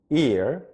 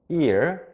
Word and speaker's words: year: 그리고 발음 하나 더 체크하면 Year, Year, Y-E-A-R 이라는 Year라는 단어는 1년, 2년, 3년, 4년 할 때 년이라는 뜻인데요. Y-E-A가 이렇게 발음되는데요. 약간 턱을 아래로 내려준 상태에서 발음해 주세요. 턱을 살짝 내려주시고 ear, ear, ear.